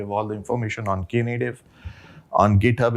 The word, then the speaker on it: Knative: It's pronounced as Knative.